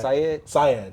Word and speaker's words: Said: He says it on the first track. Syed. Yeah, that's what it is.